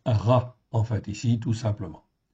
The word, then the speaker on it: רע: Donc, Resh Aïn avec un patar en dessous, en fait ici, c'est le petit tiret que vous voyez, ça se prononce Ra, en fait ici, tout simplement.